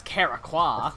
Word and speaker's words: Karakwa: here amongst his people they pronounce it correctly it's karakwa that's fair that's fair